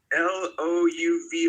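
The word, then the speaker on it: Louvre: L O U V R E. I think it's pronounced the Louv.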